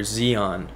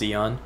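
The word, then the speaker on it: Xion: then there's another member zeon i think that's how you pronounce it it's like spelt x-i-o-n but i think it's pronounced zeon um so i'm pretty sure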